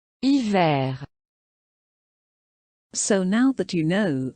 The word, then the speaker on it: hiver: Hiver. So now that you know, for the most part, what you should pronounce, back to the silent treatment.